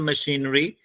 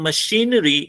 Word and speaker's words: machinery: So now in machinery, if you concentrate, so how many syllables are there? 4 syllables are there. If you pronounce this word, so how will you pronounce? Machinery. So there are 4 syllables.